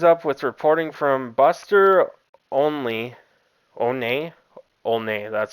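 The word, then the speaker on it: Olney: Network this lines up with reporting from Buster only one that's how you say it and Jesse Rogers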